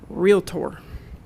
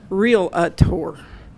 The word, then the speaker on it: realtor: fixed it for you she said the word realtor and that's how you say it you don't say real atour and if you come